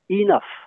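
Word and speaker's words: enough: entendre même chose pour le mot anglais et nook qui se prononce inaf linaf ça veut dire assez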